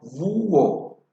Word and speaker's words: búho: Por ejemplo, búho. La fuerza de la voz recae en la vocal U, seguida de H y después O.